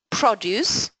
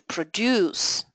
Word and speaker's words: produce: Another pair used in business produce and to produce produce.